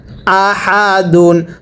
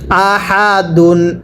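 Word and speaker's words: أَحَدٌ: দাল দুই পেশ দুন আহাদুন স্মরণ রাখবেন এরকম হা গুলো উচ্চারণ করার সময় গলার মাঝখান থেকে বাতাস বের হবে পড়ুন আহাদুন তানবিনের উচ্চারণটা বাংলায় শেষে দন্তন না উচ্চারণ হবে পড়ুন আহাদুন আরো একবার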